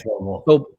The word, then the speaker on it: Vobile: Ben previously founded Blayze, acquired by Vobile, and is it Vobile or Vobile? It's Vobile. Vobile.